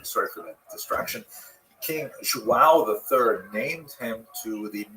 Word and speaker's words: João: Wow. I used to think it was wow, like when the baby was born, the mother would say, wow, it's a boy. But it's actually João.